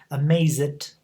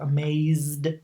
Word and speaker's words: amazed: So it's important that you don't pronounce the written E. That's why we have amazed and played and again placed.